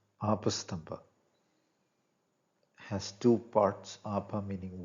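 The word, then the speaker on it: Āpastamba: When usually written in English, the diacritic mark of prolonged A is left out. So one tends to read it as Apastamba, but the Sanskrit pronunciation is Apastamba.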